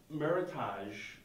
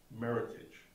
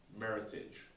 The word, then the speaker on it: Meritage: to correctly pronounce it meritage think merit and heritage combine the two meritage meritage meritage could you